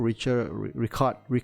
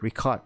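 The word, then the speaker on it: Richárd: uh Carlson uh Rapport Richard I call it Richard Ricard is correct pronunciation record he resigned the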